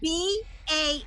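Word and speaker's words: bah: ba is silent and the h at the beginning of the word humbug is pronounced right would you all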